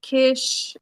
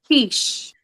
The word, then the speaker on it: Keysh: It's Keysh. It's not kish, it's not Listen, it's quiche.